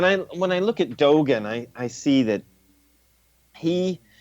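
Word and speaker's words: Dōgen: Dogen.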